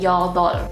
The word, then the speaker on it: 여덟: the stronger 르 sound, so that you don't pronounce the piup at all. So you just say 여덟. There's no piup in there.